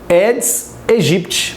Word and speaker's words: Aedes aegypti: Ele se escreve Aedes aegypti, mas a pronúncia correta é Aedes aegypti, porque em latim o A e o E tem som de E.